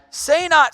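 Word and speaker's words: Senat: diedring say not now I know it's spelled differently but that's how it's pronounced say not strangely has not played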